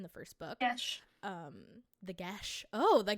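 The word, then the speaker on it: geas: The Gesh. Oh, the That's how it's Gesh. pronounced on the audiobook.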